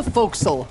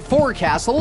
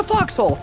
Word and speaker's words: fo'c'sle: box needs repairs should be some way to repair it though ah the fo'c'sle most ignoramuses pronounce it forecastle but it's really closer to foxhole mm-hmm fun fact if